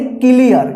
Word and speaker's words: clear: कल जो हम क्लास कराए हुए थे जिसमें बताया गया था कि EA के बाद R रहे तो EA का उच्चारण क्या होगा? य होगा, ठीक। तो देखिए इसको हम क्या पढ़ेंगे? इसको पढ़ेंगे क्लियर। क्या पढ़ेंगे? क्लियर, ठीक।